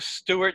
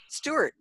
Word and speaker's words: Stuart: Yeah, you've got to pronounce the U's, but not the R's.